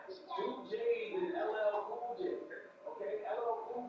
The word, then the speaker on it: LL Cool J: It's not like Joe Biden was speaking on somebody that is it's LL Cool J, not LLJ Cool J.